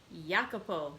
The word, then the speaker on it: Jacopo: may god protect so the important part in that is yakupo so i will try my best to start pronouncing it that way from now on